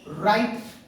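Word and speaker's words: write: नहीं किया जाता है जैसे की राइट राइट मीनिंग ब्लू के बाद आर आता है राइट राइट में तो इसको हम लोग राइट पढ़ने हैं ना की राइट नहीं पढ़ने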